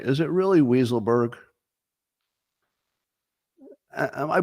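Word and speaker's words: Weisselberg: being told it's pronounced weiselberg you know if that were my name and I had two choices uh which way do you pronounce it wise or weasel I'd go with wise I'd go with wise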